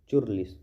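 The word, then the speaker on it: churlish: Cheers cheers चुरलिस बोलना है इसको। चुरलिस मैं इसको चुरलिस बोलता था। ठीक है?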